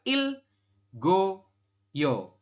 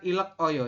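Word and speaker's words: 읽어요: dengan I dan real maka dibacanya tetap Il dan gioknya pindah ke sini ya ke samping go atau menggantikan ieng maka kita membahasnya adalah Il go yo seperti itu bukan ilek Oyo ini kan tulisannya ilek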